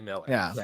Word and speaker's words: Millar: I'll give you the Mark Millard thing. We got confirmation from from her last week when he was on the show that it was Miller. Miller. It is actually Miller.